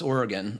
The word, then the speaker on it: Oregon: uh first of many things is how to pronounce Oregon I know I was doing it wrong when